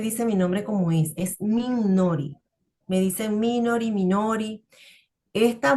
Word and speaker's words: Minori: O sea, nadie lo pronuncia, toda la gente fuera de Venezuela no me dice mi nombre como es Minori.